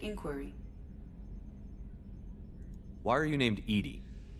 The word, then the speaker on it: EDI: Why are you named Edy? EDI is the phonetic pronunciation of EDI. That is an acronym for enhanced defense intelligence.